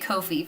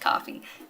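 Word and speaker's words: Ko-fi: Etsy or coffee me I pronounced it Kofi for the longest time but someone recently corrected me and said it's pronounced coffee did not know that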